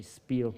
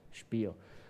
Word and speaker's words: Spiel: learn the english voices the proper german pronunciation of spiel not to say spiel but spiel and the second thing where